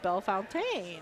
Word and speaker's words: Bellefontaine: yes yes I was I was born in Bellefontaine and then my friend Christie married Jamie and I learned that it actually should be pronounced Bellefontaine and I'm almost but I'll get it right